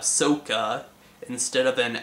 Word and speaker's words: Sokka: Instead of Sokka, we have Sokka.